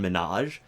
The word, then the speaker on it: Minhaj: I'm making sure to because people say well Hasan Minhaj and it's min Haj like there's an H there I'm trying to I'm